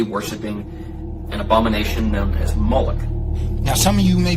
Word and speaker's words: Moloch: The MLK is vocalized as Molech, or Moloch, in the Masoretic texts, which is an authoritative text in Rabbinic Judaism. It's from this pronunciation that we get the contemporary name Moloch.